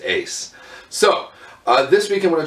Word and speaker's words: UYS: And yes, UYS is pronounced Ace.